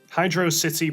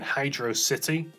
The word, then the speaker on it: Hydrocity: Have you always called Sonic 3's second zone Hydro City, like I have? Or maybe you've called it something else. The Sonic community has suggested two possible pronunciations for the zone: Hydro City or Hydrocity.